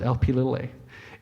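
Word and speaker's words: Lp(a): a closed parenthesis uh so you pronounce it LP a and that is a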